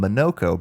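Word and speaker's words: Monoco: getting to me again, it took forever for me to be able to call him Monokco because it's spelled Monaco and not Monaco. Yeah, I know. They all say monokco and I was always like what?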